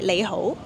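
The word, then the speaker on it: 你好: But in Cantonese, we say lei hou. Oh, so here you don't say ni hao, You can Yeah, also say, people can understand.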